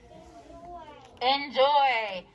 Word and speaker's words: enjoy: We think N, but we say in.